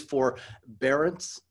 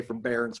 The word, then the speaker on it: forbearance: you pronounce it it's it is for barons uh but i sometimes say from barons but you get it